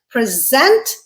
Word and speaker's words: present: Word pair number 4, present. Again, the way I pronounced it, present, it's a verb.